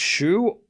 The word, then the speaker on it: Xu: Is it pronounced shu? It's pronounced shu or shu. Okay. Sorry. Um, thank you for telling me. Shu. Not zoo. Shu.